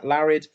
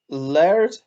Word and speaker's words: Laird: tucker rule and la larrad yeah as our back four i'm saying his name wrong i've just realized this it's lard isn't it laird i've called him larry this entire time it's going to stay